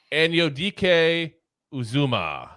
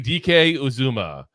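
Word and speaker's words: Anudike-Uzomah: yeah all righty on to number nine Felix anio DK uzuma and I'm telling you I cannot tell you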